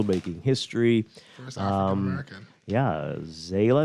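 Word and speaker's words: Zaila: history um american yeah zayla is how you pronounce it avant-garde that's quite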